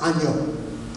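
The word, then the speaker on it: 아니요: Now, in Korean, the word no is pronounced anyo.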